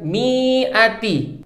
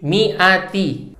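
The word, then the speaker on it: مِائَةِ: Sedangkan pada kata mi'ati, kenapa mi-nya nggak dibaca panjang? Karena setelah kasroh, itu alif, bukan ya sukun. Sehingga cara bacanya bukan mi'ati, tapi mi'ati.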